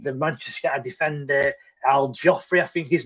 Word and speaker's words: Joffrey: Yeah, but like I say, go on, you tell me how you pronounce his name. Joffrey.